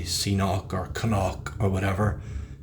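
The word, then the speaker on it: Cnoc: And it is pronounced knock, by the way. I've heard people say Seanock or Knock or whatever. It's knock. It's like an old Celtic, Irish, Gaelic word for hill, a hill or a small mountain.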